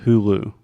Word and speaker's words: Hulu: How do you say this in Portuguese? Hulu. Okay. In English, we say Hulu.